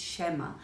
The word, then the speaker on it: schema: way, but I'll try to mention the right pronunciations. Schema is the first one I wanted to bring to your attention. It's schema.